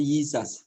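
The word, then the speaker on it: Jesus: Kemudian kalau huruf vokalnya terakhir itu sendiri juga nggak bisa juga, jadi Yizas. Makanya Musa yang bacanya bukan Yesus tapi Yizas.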